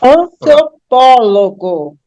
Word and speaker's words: antropólogo: é aberto mais uma antropólogo tenho cinco sílabas aí né antropólogo A última é go a penúltima é ló a antepenúltima é pó e quando eu pronuncio eu tenho an apólogo a anti penúltima é a mais forte portanto a palavra